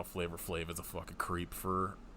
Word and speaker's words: Flavor Flav: I do at least know who Flava Flav is, so. Well, not enough because it's Flavor Flav.